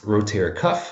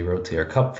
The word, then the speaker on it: rotator cuff: A lot of people say rotator cup for some reason. So if your client says rotator cuff spelled C-U-P, it's not. It's cuff, C-U-F-F. So make sure you pronounce it correctly.